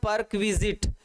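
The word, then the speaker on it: perquisite: इसका right pronounce होता है परक्विजिट, हाँ, क्विजिट, क्विजिट, क्विजिट।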